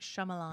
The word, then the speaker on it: Shyamalan: say his name I'm not chamelam M Night Shyamalan yeah so it's his new movie called knock